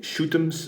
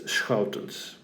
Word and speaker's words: Schoutens: I hear people sometimes call me shoot'ems, but that sounds very, very ominous. Okay, don't do that. If you really, really want to know how to pronounce my name, it's in Dutch you pronounce it as schoutens. But the sch is a sound that is not very easy for non-trained larynxes.